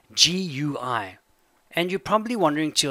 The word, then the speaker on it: GUI: have heard of GUI it's pronounced - GUI I'm not even kidding GUI and you're probably wondering